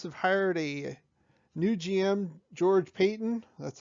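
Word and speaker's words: George Paton: here um broncos have hired a new gm george payton that's how you pronounce his name he comes from the ma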